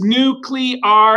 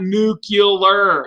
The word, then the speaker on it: nuclear: doesn't really matter but don't say it wrong it's nuclear not nuclear okay a lot of people